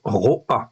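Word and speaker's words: רֹעַ: Là, j'ai la même racine, resh aïn, mais la vocalisation est différente. C'est un olam, en fait, ici, ok, et en fait, ici, un patar. Donc, ça se prononce roa, cette fois-ci.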